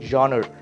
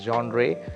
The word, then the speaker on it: genre: what is wrong right next one would be g-e-n-r-e that is genre genre yes it uh some of us would also produce it as genre but yes genre is a standard pronunciation that